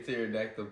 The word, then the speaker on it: pterodactyl: can't you hear the pterodactyl P why cuz the p is silent get the [ __